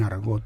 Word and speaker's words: argot: Un argot, lo digo en español, argot, sí. Por eso pronuncio la T, no lo digo en francés, pero la palabra está sacada de la palabra francesa argot, ¿no?